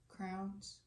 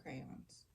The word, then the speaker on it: crayon: But, And like, for those of you who think it's crowns, it's crayons. He's saying crayons.